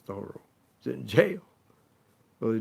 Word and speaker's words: Thoreau: Because as you may remember, Ralph Waldo Emerson goes down to see his friend Henry David Thoreau, that's the way he pronounces Thoreau, he's in jail.